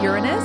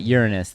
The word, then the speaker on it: Uranus: i thought it was do you say uranus is that the actual correct way to say it uranus the the funny way to say it is uranus yeah go ahead all